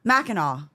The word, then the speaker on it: Mackinac: Mackinac.